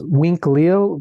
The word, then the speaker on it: Uinclil: And I was thinking that there's the Mayan term for human is, I might be mispronouncing, is Winklil, but spelled Uinclil.